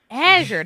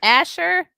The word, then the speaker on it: Azure: Azure sounds like fissure, Oh, as in anal. an Azure fissure? Azure, not Asher. I think Which is like- Azure, it's like blue.